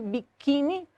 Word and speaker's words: biquíni: Porque para identificar essa sonoridade, né, perceber que biquíni, a sílaba tônica é o qui, então ela é uma paroxítona terminada em i, por isso obrigatoriamente acentuada.